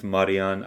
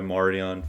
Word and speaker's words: Marijan: In So Croatian, there's no J. Yeah, in Croatian it's Marijan. I go by Marijan for Okay. all the Americans, and then my boys, they call me Mar.